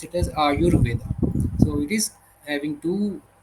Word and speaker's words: Ayurveda: Aayu and Veda and when we combine together we uh pronounce it as Aayurveda.